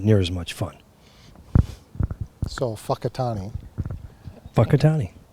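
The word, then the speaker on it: Whakatāne: as much fun so whakatani fuckatani which is emphasis on the first syllable gotcha how they say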